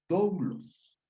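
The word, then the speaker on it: δοῦλος: Y quiero decirles que la palabra siervo en griego se llama doulos. Así la vamos a pronunciar, mis hermanos.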